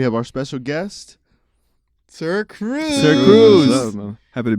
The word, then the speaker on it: Sirxcruzz: Sirxcruzz. What's up, man? Happy to be here. Thank you guys for having me. That Cool. X is silent.